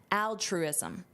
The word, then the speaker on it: altruism: To Ricard, the answer comes down to altruism. Notice the pronunciation here. We have the word truism. Put that together, truism. Truism. That's a truism. That's something that is true. And then you add altruism, altruism.